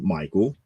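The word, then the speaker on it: Mychal: to pronounce it but it is spelled m-y-c-h-a-l but it's really Michael uh actually being tossed to Earth and is kind of like a pawn in this good versus evil game that Michael is not aware of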